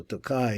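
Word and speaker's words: Tokaj: So Tokai is Tokai, I think they pronounce it.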